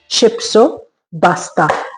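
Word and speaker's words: Shipsopasta: The Jordanian cuisine is शिप्सो पास्ता। Actually it's शिप्सोपास्ता but since एरव्स can pronounce P सो दे से बी।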